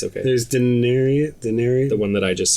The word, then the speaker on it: Daenerys: I just want to say Daenerys again. No? It's not. Is Daenerys the dragon lady? It's Daenerys.